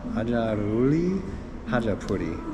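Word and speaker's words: Adjaruli Khachapuri: Yeah, the Hajaruli Hajapuri.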